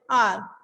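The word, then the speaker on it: hour: एच क्या consonant है बट जब हम इसका प्रोनाउंसिएशन कर रहे हैं तो साउंड क्या आ रहा है? आर, आ का साउंड आ रहा है. It's sound like a vowel, so वी use here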